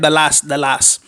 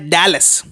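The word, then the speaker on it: Dallas: यहाँ पर काफ़ी लोग जो है वो डैलस को प्रॉपरली प्रोनाउंस नहीं करते, ऐसे बोलते हैं दलास। ये एक इंडियन टोन है, लेकिन एक्चुअल टोन जो है वो प्रोनाउंस किया जाता है डैलस।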